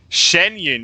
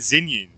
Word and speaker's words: Xianyun: Xianyun, that's how you say it. I was calling it Xinyun.